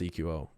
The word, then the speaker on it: Eqo: yeah they call him eco but the the name is pronounced e qo you EKOS tqo himself said that it was supposed to be pronounced eqo he just doesn't care